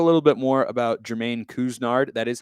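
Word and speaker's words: Couisnard: to talk a little bit more about jermaine kuznard that is how you pronounce his name by the way kuznard i apologize for not getting that right last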